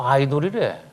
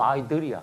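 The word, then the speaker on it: idol: 나는 요즘 보면 미국에도 그렇고 한국에도 그렇고 아이돌 그런 뭐 자꾸 아이돌이래. 아이돌 이거 원래 발음 아이들이야 사실은.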